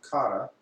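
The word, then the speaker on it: 唐: You had Okinawa instructors go to China and train, and so over time, there's a Chinese character pronounced kara, which means Chinese, combined with te, and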